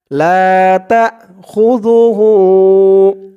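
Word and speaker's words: لا تأخذه: আলিফ টান উল্টা পেশ লাতাখুজুহু জালের উচ্চারণটা একদম নরম হবে।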